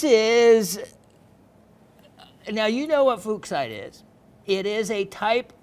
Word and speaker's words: Fuchsite: Bahia, Brazil, Fuchsite, and you got to get that right. Fuchsite, and named after a gentleman named Fuchs.